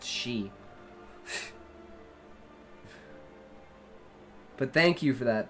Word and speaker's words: Xi: I know is like Zed or XI is pronounced she but thank you for that the Q is